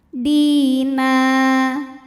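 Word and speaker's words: دِينًا: Di juga sama matobi'i zahiri, sebab ada ya sukun yang sebelumnya berbaris kasroh, maka huruf dal kita panjangkan 2 harokat. Dina.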